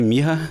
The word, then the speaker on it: Myrrha: and today we have am I pronouncing your last name correctly Miha that's perfect all right joogo Miha